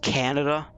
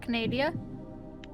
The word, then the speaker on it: Canada: hold on hold on it's it's pronounced canada sorry it's not canadia you know what uh